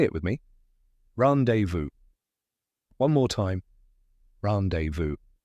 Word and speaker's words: rendezvous: the correct pronunciation is randevu yep that silent Zed might surprise you let's break it down